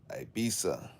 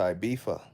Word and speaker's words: Ibiza: So in Spain, there's a place called Ibiza, right? It's a ZA. But because the Spanish pronounce the Z as a TH, the British that vacation there all the time, they say, I'm going to Ibiza.